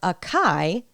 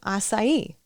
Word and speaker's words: açaí: I came to Brazil, I was asking for acai instead of açaí. And obviously, no one understood me. So that's an example of learning a word without learning the correct pronunciation.